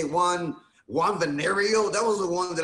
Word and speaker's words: Villareal: Well, no, it's Villareal. No, Villa, like a Villa, like Pancho Villa. Villa, and then Real. Villareal.